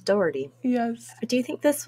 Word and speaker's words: Daugherty: d-a-u-d-h-e-r-t-y you know because obviously they're pronouncing this more like it's sound sounds doherty yes do you think